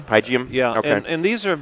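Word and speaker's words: Pygeum: How's that pronounced? It's Pygium. Pygium?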